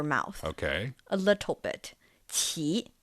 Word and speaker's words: 奇: The first syllable, it's not the CH sound from English, right? It's somewhere in between. Somewhere in between. Yeah. So 奇, qi, qi.